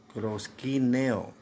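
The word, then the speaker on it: προσκυνέω: adoración en griego no es cierto que se pronuncia proshkin eo que significa traducido a nuestro idioma postrarse y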